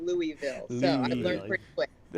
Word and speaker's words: Louisville: Derby is pronounced Louisville. Exactly. Louisville. Yes. Yes. Louisville. Like you got to kind of like swallow your tongue a little bit.